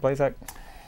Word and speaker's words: Blazak: Blazak. Did I pronounce that properly? Yeah, that's right, Blazak.